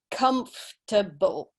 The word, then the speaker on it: comfortable: one yeah you're right so with the three syllables so it's comfortable okay so that oh our sound isn't pronounced